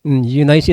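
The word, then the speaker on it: Eunice: H un nice daw ang pronounce diyan sabi ng and I'm persuaded that ind also.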